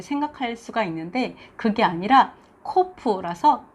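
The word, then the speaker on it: קוף: 있습니다 어 그리고 이것은 코프 이렇게 해서 어 크 발음입니다 우리가 필요 좀 비싸게 생겼잖아요 그래서 풉 얼음 일 것이라고 이렇게 생각할 수가 있는데 그게 아니라 코프 후라서 큼 아름 이라고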